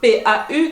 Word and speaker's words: pau: très similaire, qui s'écrit P-A-U, qui s'écrit P-A-U, qui se prononce pau, qui veut dire il ne faut pas confondre pão et pau.